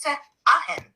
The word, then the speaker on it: Sarahen: The being who reached you identifies themselves with a vibrational name that translates closest in human syllables to Sarahen, pronounced Se-Ahen.